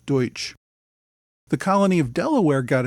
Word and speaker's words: Deutsch: as the Pennsylvania Dutch Dutch being a mispronunciation of the word Deutsch the colony of Delaware